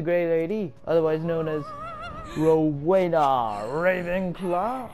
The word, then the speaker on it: Rowena: lady otherwise known as rowena ravenclaw i completely butchered her name or uh didn't know the name i i said ravana the first time i believe in this